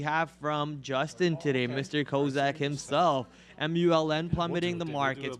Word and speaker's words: Kozak: It's pronounced Kozak.